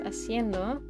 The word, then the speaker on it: haciendo: But it's spelled with an H, but it's like silent. Or it's implied, you know? Haciendo.